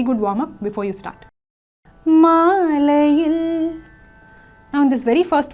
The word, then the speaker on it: Maalayil: Also notice the stress I am giving on that last syllable. Maalayil. Il. You see that push? I am not singing it plainly like Maalayil. It's not like that, right? So we are giving a stress.